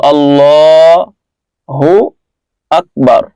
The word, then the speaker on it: আল্লাহু আকবার: এই আল্লাহু আকবার শব্দটি আমরা অনেকে আল্লাহু আকবার বলি, এর সঠিক উচ্চারণ আল্লাহ, হামজা লাম খাড়া জবর আল, আর লাম খাড়া জবর ল। তো আল্লাহু আকবার, আল্লাহু আকবার, আল্লাহু আকবার।